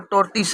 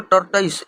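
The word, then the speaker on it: tortoise: अब यहाँ पर टोर्टिस है तो इसको टर्टाइस, इसको टर्टाइस भी कहते हैं, चाहे टोर्टिस भी कहते हैं, ठीक है। इसका अलग अलग थोड़ा सा उच्चारण है।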